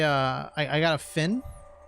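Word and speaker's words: phin: I I got a fin I don't think that's pronounce it p h i n it's a Vietnamese like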